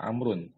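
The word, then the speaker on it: عمرو: Kalau setelah tulisan ain, mim dan ra itu ada waw, itu bacanya Amr ya, Amrun.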